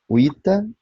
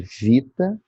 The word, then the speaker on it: vita: O V soa como U, então uita, em vez de vita.